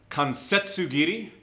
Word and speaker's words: kansetsugiri: There's also your joint kick, in Japanese, kansetsugiri. It's spelled K-A-N-S-E-T-S-U. Kansetsugiri.